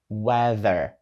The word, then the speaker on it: weather: звучить як weather weatherther і ось тут у нас уже є перший складний звук там є літери t h і разом вони роблять звук з з Тобто ми ставимо язик між зубами з і видуваємо повітря і даємо голос the the Отже wether